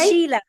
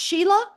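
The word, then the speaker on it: Síle: It's Sheila. Oh, you mean Si L is pronounced Sheila in Ireland? Yes. Oh, boy. Is that cool? Okay. I just learned something new. Sheila.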